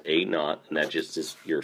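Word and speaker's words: a₀: a KN so that a z is pronounced a not and that just is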